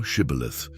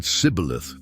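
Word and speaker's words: shibboleth: Then they said to him, "Say now, Shibith." But he said, "Caleith," for he could not pronounce it correctly.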